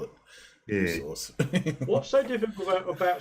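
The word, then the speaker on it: Worcester: have been enough that's how we call it Source what's so difficult about saying Worster when it's spelled wor eser sh when it's spelled sh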